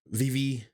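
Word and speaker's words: Vevay: Indiana and that that town is uh uh vivv Indiana and it's spelled v v a y and a lot of people come into the town and say Vive and that's not how it's pronounced however there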